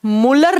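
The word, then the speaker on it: Mulder: खोज की गई थी मुलर नाम के साइंटिस्ट द्वारा एम यू एल डी ई आर लेकिन जब आप प्रोनाउंस करते हो तो डी साइलेंस रह जाता है और ये जो प्रोटीन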